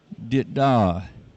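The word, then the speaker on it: dit-dah: So in Morse code, it's like a dot and a dash. And we pronounce that dit-da.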